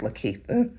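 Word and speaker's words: Likitia: When I was in school, my teachers told me that I didn't pronounce my name right. My name is spelled L I K I T I A. And my mother always family parents always told me my name is Lita.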